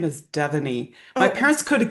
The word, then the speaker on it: Devoney: And my first name is Devoney. My Oh, parents could have given me one to pronounce easily. You know what I'm saying? I've had a tough road that way. Devoney. Okay. Devoney.